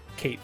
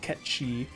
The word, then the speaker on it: Cait Sith: to everyone's favorite cat, Cait Sith, who yes, I know it's pronounced Ketchi, but since the game decides to use the nostalgic pronunciation, I'll just name him Cait for the review.